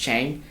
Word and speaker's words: Tseng: It's spelled Tseng, but it's pronounced Chang.